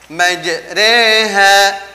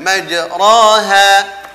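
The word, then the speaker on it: مجريها: Wa mursaha Oh ya majreha bukan majroha kemudian Hai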